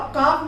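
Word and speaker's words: calf: अब काफ में देखिए F से पहले L आया, इसलिए हमने उसे यहाँ पर L को साइलेंट रखा है।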